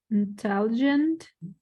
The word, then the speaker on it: intelligent: As you heard Suyan, intelligent, second syllable stress.